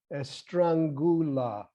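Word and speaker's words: Estrangela: The other dialect, which is a more Eastern form, is known as Estrangula. I better spell that for you, but it's important to know it.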